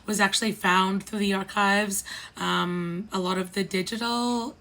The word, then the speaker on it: ArQuives: In 1973, Pink Triangle Press founded the ArQuives, which is archives spelt with a Q.